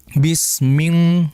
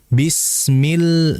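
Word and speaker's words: بِسْمِ: Sehingga jangan dibaca bisming ming bukan yang betul. Bismil. Bismil mil. Bedakan antara mil dengan min.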